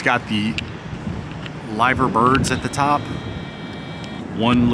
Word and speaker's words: Liver: It's pronounced, spelt liver. They call it Liver.